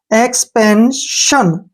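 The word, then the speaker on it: expansion: जैसे मैं बताता हूं आपको ध्यान से, ई एक्स से बन गया एक्स, पी ए एन से पेन बन गया, एस आई ओ एन शन, एक्सपेंशन। क्या पढ़ेंगे इसको?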